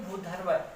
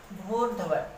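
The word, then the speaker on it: भूर्ध्व: तो कई लोग इसका उच्चारण करते हैं भूधर्व, भूधर्व, भूध और फिर र और व, ऐसा नहीं होता। भूर्धव, भू र ध व, भूर्धव।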